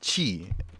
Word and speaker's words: Qi: things you can do of the day is chi Qi what will normally pronounce as Ki which is the wireless standard for charging devices